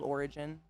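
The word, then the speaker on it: Orijen: It's called Origin, spelled with a J.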